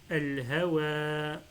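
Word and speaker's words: الهوى: Par exemple ici, pareil, al-hawa, ce alif à la fin, il peut prendre la forme d'un ya et on l'appelle alif maqsoura. Al-hawa, et on lit la même chose.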